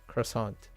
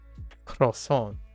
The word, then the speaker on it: croissant: I can say it, I prefer to pronounce it croissant, right, with the T, as opposed to croissant without the T.